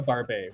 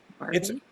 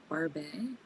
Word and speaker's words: Barbet: It's called a Barbet, which I had never heard of before she existed. What does that mean? Barbie? It's French for beard. Barbet? How do you spell that? Barbet. He's like a Portuguese water dog, but en français in French. Oh.